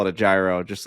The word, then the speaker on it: gyro: calling that oh really you're calling that a Euro g y a gyro like a g y r gyro is how it's spelled but they call it the ass not